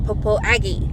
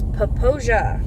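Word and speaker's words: Popo Agie: Yes, I know you're gonna see a sign that's gonna say Popo Aggie, but it is not. It is Poposia. Is the correct pronunciation of that river.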